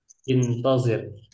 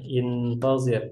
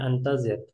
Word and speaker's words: intazir: Intazir. Sebentar ikhwah, ini perlu dikasih harokat. Nah, ya ini ya, intazir. Jangan sampai nanti bacanya antazir. Karena beda antara antazir dengan intazir.